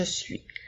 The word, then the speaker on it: suis: mot suit qui s'écrit s u i s le S final nous ne le prononçons pas c'est une lettre muette alors je suis le